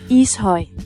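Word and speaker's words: Ishøj: How to pronounce this? Isoy.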